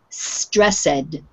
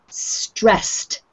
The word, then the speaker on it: stressed: So it ends up sounding like stressed, but that's wrong. This word with the double S at the end, the ED sounds like T on the end, so it's stressed.